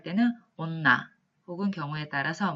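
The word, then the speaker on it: 女: 따라서 뇨 혹은 발음을 길게 해서 뇨 이렇게 발음이 되는 경우가 있고요. 훈독을 할 때는 온나 혹은 경우에 따라서 매 이렇게 읽혀지는 한자가 바로 이 여자입니다.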